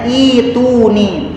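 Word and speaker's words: ائتوني: Kayak deui surat Al-Ahqaf ayat 4 di antaranya ada utuni, tulisannya utuni tapi bacanya ituni.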